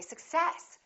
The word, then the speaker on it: success: stressing the wrong syllable let's look at the word success now do we say success or do we say success if you're speaking quickly and you stress the wrong syllable definitely your words are going to be difficult to understand so in this case we stress the second part and we say success I wish you success we don't say I